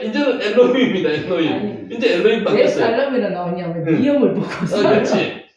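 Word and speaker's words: אֱלֹהִים: 중간에 들어가면은 L 여기 위에 O 발음 나죠. L힘 엘로힘 예.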